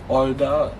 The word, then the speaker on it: 얼다: And then the last word we have here is 얼다, which means to freeze, and then as you can see here, it is actually silent again.